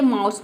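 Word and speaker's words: mouse: इसका रूल है कि जब किसी वर्ड में वर्ड के बीच में अगर ओ यू हो तो वहां पे ओ यू को हम क्या प्रोनाउंस करेंगे आव प्रोनाउंस करेंगे कहां पे होना चाहिए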